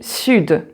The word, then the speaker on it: sud: But as I said, so you can have some exceptions, so like here with the D, sud. Donc j'habite dans le sud, and then sud, the D is pronounced.